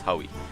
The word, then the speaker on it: Howi: And it will be between, I think it's the battle of Howie versus, it's actually Howi, so it's pronounced as Howie. Oh, okay. Howie versus Elilite.